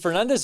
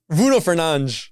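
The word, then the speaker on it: Fernandes: Is it Fernandez or Fernanch? Fernanch. He's good. Bruno Fernan. Bruno Fernanch. That's how you say it. It's more swag that way. Bruno, if if a real football fan if he says Bruno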